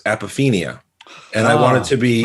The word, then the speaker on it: apophenia: And last week on the podcast twice, I pronounced a word as apophenia. That's not the word. The word is apophenia.